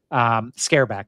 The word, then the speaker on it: Scareback: Scareback. Is that how you pronounce it? Yeah. Yeah, that's how.